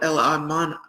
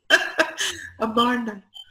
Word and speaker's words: Amarna: middle of the desert, which is called El Arman. I'm having trouble remembering exactly how to pronounce it. El Arman. Okay, I'll give you that in a minute. Amarna.